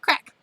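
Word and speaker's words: craic: new all right crack is pronounced well crack and it means general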